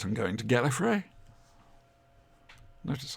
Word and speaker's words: Gallifrey: oh yes I really said I'm going to Gallifrey notice how I sounded properly say it properly